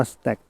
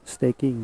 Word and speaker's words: staking: สเต็ก กิ้ง นะ ครับ บาง คน อ่าน ว่า สะ แตก จริง ๆ ว่า staking นะ ครับ อ่ะ หน้า ตา